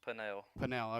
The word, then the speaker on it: Pannell: last name correctly uh my last name is panel pannell okay well we didn't say